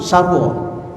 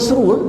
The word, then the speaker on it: sarwa: Sarwa sekalian alam tasawurf Sarwa Sarwa bermaksud bukan seru hejaannya Sin R wau duludulu bila tafsir Jawi dia buat sin ra ada orang yang baca dia kata Tuhan seru sekaliangam tak ada Tuhan Sarwa